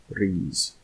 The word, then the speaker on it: Rhys: "Say Rhys like this, Rhys, and Ednebydd.